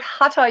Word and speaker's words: hatha: so it's you know you pronounce it hatha in english because th but it's ha and ta which is sun and moon so basically the whole every it's not hatha yoga oh that thing where